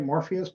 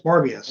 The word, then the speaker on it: Morbius: Morpheus. Morbius.